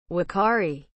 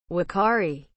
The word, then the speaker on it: uakari: What is the meaning of the word wakari? As a noun, medium-sized tree-dwelling monkey of the Amazon basin. Only New World monkey with a short tail. Wakari is spelled U-A-K-A-R-I. Wakari.